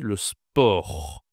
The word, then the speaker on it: sport: Alors ici, je ne dois pas prononcer le T. On dit le sport. Le sport, d'accord ? On ne dit pas le sport. Il y a d'autres langues comme l'allemand, on dit sport et en anglais aussi on dit sport. Mais ici non, en français on dit le sport, on ne prononce pas le t.